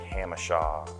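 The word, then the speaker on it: Jamacha: You know, a lot of the cities like La Jolla, La Mesa, even our streets like Hamishaw, it's spelled Jamaica if you don't know that.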